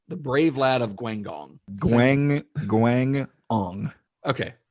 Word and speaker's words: Guangdong: Guangdong. Okay. That second G is with the first syllable.